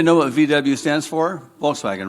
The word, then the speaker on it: Volkswagen: what VW stands for Volkswagen right do you know what Volkswagen means in German the people's car right folks vagen that's how they say it okay over here what